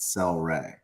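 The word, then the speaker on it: Cel-Ray: anybody celery soda celery celery flavor but it's pronounced cell Ray really wow if you've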